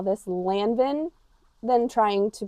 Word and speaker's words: Lanvin: N is not pronounced. No, because IN is also un. Un. Lanvin. Lanvin.